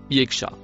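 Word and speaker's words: يخشى: Ici, on peut la traduire correctement par les mots pour celui qui Le dernier mot en rouge se prononce yekacha.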